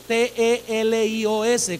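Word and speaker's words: τέλειος: El término griego para madurez o el que alcanzó madurez es un término griego que es la palabra telios, T-E-L-I-O-S con acento en la E, telios.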